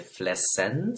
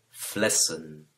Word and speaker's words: flessen: Es importante notar también que la pronunciación de las últimas en en el plural es la e muda de la cual hemos estado hablando. No se dice flessen, sino flessen.